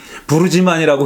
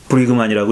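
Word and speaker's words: Brueggemann: 그래서 보니까 그 다음에 또 월터 브리그만도 부르지만이라고 그렇게 불렀는데 부르지만 아니고 월터 브리그만이더라고요. 브리그만이라고 읽더라고요.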